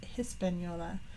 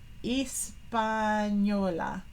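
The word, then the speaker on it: Española: the island of oh I always kind of pronounced it with Hispanola but they're leaving off the AG Espanola Espanola okay no h I learned something new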